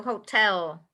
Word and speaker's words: hotel: hotel hello yeah the the stress the accent is on the second syllable so hotel everyone hotel tell it's